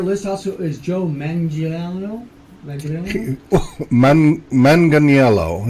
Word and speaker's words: Manganiello: Manganiello is what it looks like.